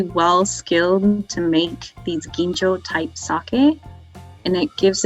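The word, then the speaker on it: ginjo: maybe take home from this session which is genjo it's spelled g-i-n so if you look in the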